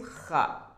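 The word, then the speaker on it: خ: Then the next one is kha, kha. When you are putting this dot at the above, it's becoming kha, kha as well. You will have to pronunciate it from your throat.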